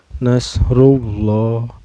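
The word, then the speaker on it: نَصْرُ اللَّهِ: harkatnya izaja anasrullahi rullah di lafadz Allah lamjalalah nya ini dihukumi tafkhim atau tebal ya Hai karena sebelum lam jalalah Hai ini berbaris dhomah ya calabai cara bacanya ditebalkan Nasrulloh lo ini ada mata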